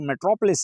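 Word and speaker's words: metropolis: इसकी सही प्रोनाउंसिएशन जो है वो मेट्रोपोलिस है, मेट्रोपोलिस। ये MATR मदर और POLIS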